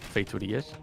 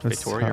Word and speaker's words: Feitoria: By the way, that's how you pronounce it. Feiturias, not Feitoria or That's whatever.